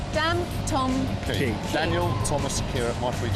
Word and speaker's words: Dantomkia: Now, how do you pronounce it? Dantomkia. Dantomkia.